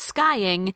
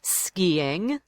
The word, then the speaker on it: skiing: So pronounce it that way in boxing. Golf. Skiing. Not skying, skiing.